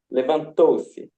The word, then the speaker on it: levantou-se: So it should be levanto-se. levantou-se. Okay. Levantou-se. Thank you. The Thank you. last syllable. Well, Last syllable.